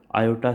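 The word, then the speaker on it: iota: इसको आयोटा से प्रोनाउंस करते हैं.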